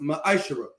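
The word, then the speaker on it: מעשר: it means 10th in Hebrew and it's pronounced maishara ten percent of every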